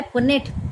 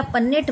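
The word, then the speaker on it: Punnett: Method शुरू किया है पुनेट, पुनेट बोलो या पन्नेट बोलो उनके स्पेलिंग के हिसाब से।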